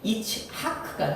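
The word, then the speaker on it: יצחק: 우리 성경에서음을 하기는이 이지만 원래 히브리어로이 이삭이라고 하는 이름을 발음할 때는 이츠 하크가 돼 이츠하크 그래서 차크 이크 차크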